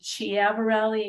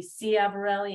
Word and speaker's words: Ciavarelli: wrong it could be chiavarelli it could be C aberelli it could be key avarelli and then mostly you